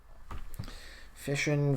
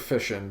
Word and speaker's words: fission: pronounced fishin it's because it sounds like words such as mission and passion so I can see